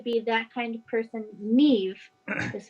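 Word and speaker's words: Niamh: And because I like to be that kind of person, Neve is spelled Naoimh for the note takers. Can you pronounce it one more time for me? Neoimh? Yes, Neve.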